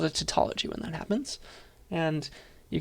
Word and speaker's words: tautology: we call it a tautology that's how you pronounce this word it's like taut like you're pulling a string and ology the study of it for no good reason so it's a tautology